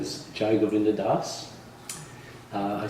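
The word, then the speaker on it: Dasa: name is jinda Das uh I spell it with it's spelled with a j a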